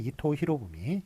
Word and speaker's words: 이토 히로부미: 그렇게 이름을 부르기도 했어요 그런데 일본 발음은 다르죠 도요토미 히데요시 이토 히로부미 뭐 이런식으로 이렇게 했었는데 어떤 식으로 표기를 하게 되느냐 일본식 발음으로 하기로 했습니다 그래서 도요토미 히데요시 그 다음엔 이토 히로부미 이런식으로 써주는 게 맞겠습니다 그래서 풍신 속에 이런